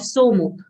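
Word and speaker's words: सोमो: to say sa of somo. Somo, both long sounds.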